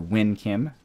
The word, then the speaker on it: Nguyen Kim: And we took out one of their leaders, Nguyen Kim, or Win Kim. I keep pronouncing that wrong. Win Kim. Although why so many letters should make the sound win is completely alien to me.